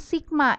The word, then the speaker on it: sigma: Artinya di sini ada lambang sigma. Ini adalah seperti huruf M tapi ke samping ya. Ini dibacanya sigma.